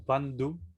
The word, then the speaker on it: bandhu: A ver, la H hay que pronunciarla muy leve, como bandhu. Bandhu. Yo la hice muy exagerado, pero se pronuncia muy leve.